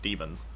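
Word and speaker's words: Daemons: it all over again everyone's pronouncing demons as demons but even with the a there it's still pronounced demons what is it about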